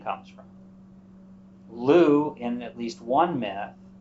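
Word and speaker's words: Lugh: festival associated with the godlu or Lou you'll see spelled l-u-g-h sometimes l-u-g um we think that's where the name comes from Lou in at least one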